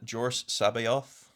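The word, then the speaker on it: Joruus C'baoth: You get your Grand Admiral Thrawn and Jor Sabayoth, which I'm 99% sure is the correct way to say it.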